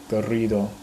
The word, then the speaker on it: Garrido: Maybe I'm afraid to pronounce it in Spanish. Garrido. I can't even like roll my R's. Garrido.